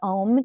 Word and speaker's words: Om: And then there's chanting, and that we use the Om chant. So it's 3 syllables, ah, oo, and it's really about relaxing, moving energy, triggering, again, a parasympathetic response, and as another form to move energy.